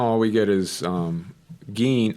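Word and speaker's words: Gin: we get is um gain I think it's I think they pronounce it Gene I want to say because I remember thinking it was like a strange pronunciation but gain shows up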